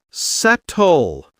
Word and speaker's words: subtle: The S is silent. Sword. Sword. No W. Subtle. Subtle.